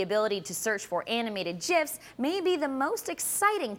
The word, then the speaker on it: GIF: By the way, the inventor of the GIF says, yes, it's pronounced with a J sound.